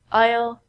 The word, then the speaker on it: aisle: The S in these words are silent. We don't say isle and isle. We say aisle, aisle, aisle.